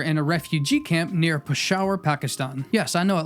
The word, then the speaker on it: Peshawar: happened in 1984 in a refugee camp near Pasha Pakistan yes I know it looks like Peshawar but it's pronounced Pasha a photograph is taken with a Nikon fm2